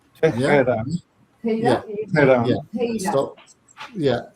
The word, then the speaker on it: Tehran: So the Russians will pronounce it Teheran. Teheran. Russians. Russians call it. Yeah. Russians call it And what do Ukrainians call it? Tehran. Tehran. Tehran. We say Tehran.